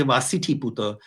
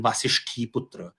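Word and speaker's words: Vasiṭhiputa: on on their coins so i'm inclined to say vaasiti puta rather than vasishthi putra or satakani rather than satani which is even worse i think so i i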